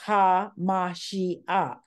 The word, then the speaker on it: HaMashiach: Ruach HaMashiach, that is pronounced HaMashiach, and that is the breath of the Messiah or the breath of Christ.